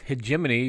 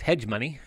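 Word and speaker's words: Hegemony: the next one is hemony which is commonly mispronounced as hedg money could see that Hy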